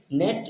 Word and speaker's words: note: ई जो हमारा लास्ट में जब जब आता है तो यहाँ पर साइलेंट की तरफ से ई रहता है।